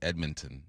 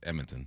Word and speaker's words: Edmonton: Same thing with my hockey buddy said it's not Edmonton, it's Edmonton. Yeah.